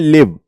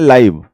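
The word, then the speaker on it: live: अब जब हम इसको एज अ वर्ब यूज करते हैं तो हम इसको प्रोनाउंस करते हैं लिव, ठीक है, वेयर डज ही लिव। लेकिन जब हम इसको एज एन एडजेक्टिव यूज करते हैं तो हम इसको प्रोनाउंस करते हैं लाइव, लाइव match, लाइव telecast, ठीक है।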